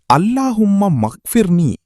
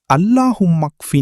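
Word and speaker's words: اللهم اكفني: அக்னினி பிதலிக்க அம்மன் சிவாக் சிலர் அல்லாஹும்ம மக்பிர்னி என்று தவறாக உச்சரிப்பார்கள் சரியான தொடக்கம் அல்லாஹும் மக்ினி நீ ஆகும்.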